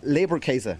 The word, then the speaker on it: Leberkäse: We're going to make a called Leberkäse, which is a grounded mix of beef and pork. Leberkäse? How did I say that? Leberkäse, exactly.